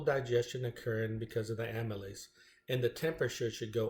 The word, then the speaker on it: amylase: dress, and that's why I call her Amy Lace. So this is the name of the chemical that breaks down the bread and turns it into glucose, amylase, and it's spelled AMYLASE.